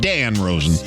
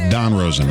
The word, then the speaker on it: Don Rosen: Not Dan Rosen, but Don Rosen.